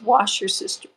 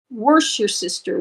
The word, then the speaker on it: Worcestershire: We can all agree that Worcestershire sauce is pronounced as wash your sister. Worcestershire, Worcester. Worsh your sister, worsh, as we say in the South, or in certain areas around Washington, D.C.